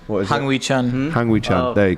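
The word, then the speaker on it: Hwang Hee-chan: Traore, Lamina, João Gomes, Nunez, I can never pronounce his name. What is Hang Wee Chan.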